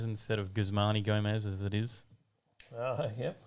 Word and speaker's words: Guzman y Gomez: always get it wrong i always call it guzman y gomez instead of gusmani gomez as it is oh yeah yeah why is pronounced e in spanish i don't think i